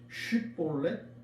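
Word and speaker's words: 쉽볼렛: 여러분도 잘 아시는 이 에브라임 사람들은 쉿볼렛 이것을 발음하지 못하고 대신 시볼렛이라고 발음했어요.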